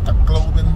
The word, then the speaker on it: Tacloban: Tacloban.